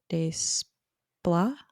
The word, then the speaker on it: Desplat: And then we have a score not by John Williams, but by Alexandre Desplat.